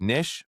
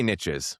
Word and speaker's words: niche: Niche. Niche. I know there's some debate about what we call it officially. Let me know what you guys think. I say niches because it rhymes with riches, which is what we